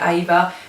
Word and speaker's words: Eva: If they saw it spelled EVA, they would pronounce it Ava just because their accent.